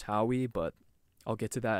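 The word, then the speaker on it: Howie: names and I remember him pronouncing how he's named ho e like ho e I'm like ho we what kind of a name is ho e I would learn later it's pronounced how we but I'll get to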